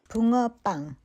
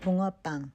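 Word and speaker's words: 붕어빵: I got a little help from my friend Juhea to help me pronounce this correctly. Bungeoppang. Bungeoppang. Bungeoppang. Bungeo means uh goldfish. Ppang means bread. Bungeoppang.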